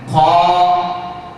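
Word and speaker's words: خ: জানিয়ে দিচ্ছি আটটি হরফ 29 টি হরফের মধ্যে আটটি হরফ উচ্চারণ করার সময় ঠোঁট গোল হবে না মুখটা গোল হবে না সোজা রেখে হা করে ফাঁকা করে উচ্চারণ করতে হবে তার মধ্যে এই হরফটি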